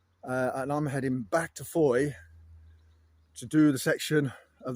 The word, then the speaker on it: Fowey: Pronounced Fowey. Spelled F-O-W-E-Y. Don't pronounce the wee.